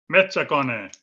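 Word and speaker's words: metsäkone: Oscar's, how do you say that? Mezzicani? Woods engine. Mezzicone. Oh, it's a Finnish Woods engine. Finnish word. Mezzicone.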